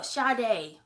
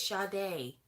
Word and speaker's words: Sade: yuck and secondly rude whose Sade Oh Sharda oh let's do the baby doesn't know how to pronounce that word that's the case I know it's shocking me cuz that's how she spells her name SH no no she doesn't spell her name shade it's sha day but like the e